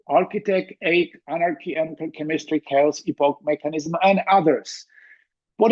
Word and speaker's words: Czechia: can just tell them well it's cha not CIA then people argue that